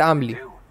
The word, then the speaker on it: Amelie: You pronounce it Amelie.